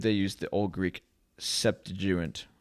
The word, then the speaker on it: Septuagint: use the old greek septuagint i'm not saying that right septuagint i think that's the right way to say it okay